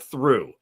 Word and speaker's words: through: You don't pronounce You don't pronounce the G. You don't pronounce the H.